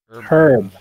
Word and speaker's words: Herb: Herb. It's Herb's garden. Herb H. Gardens. The H is silent, Joe.